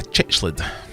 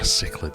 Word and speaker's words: cichlid: Which of these fish is not a chichlid? Or a cichlid, if you're going to be a stickler for pronunciations.